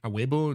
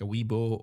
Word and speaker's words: Awebo: That's why you pronounce it aebo. You don't say like a weebo or um other stuff.